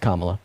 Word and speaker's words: Kamala: Kamala on but I mean her name is pronounced Kamala sorrya no no you're good I doubt you're